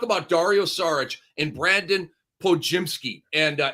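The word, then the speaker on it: Podziemski: Dario sarich and Brandon Po jimsky and uh it's it's like spelled pod jimsky but the the D is silent for everybody out there it's psky okay um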